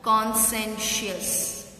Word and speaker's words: conscientious: See how it is pronounced. Consent. C-I is silent. Conscientious.